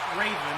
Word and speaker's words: Draven: I believe she pronounces it just Raven. The D is silent when speaking of it as a noun by itself without the first name.